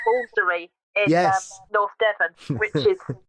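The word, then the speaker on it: Woolfardisworthy: I like Walsery in North Devon, which is not pron how it's pronounced. Yes. As as Yeah, you say Walsery, but if you see it written down, it's Wardiesworthy.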